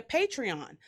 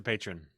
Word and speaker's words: patron: So, producer James, can you explain to them exactly what being a Patreon is? Because I don't even know if I said it right. No, you didn't. What is it? A patron? It's a patron.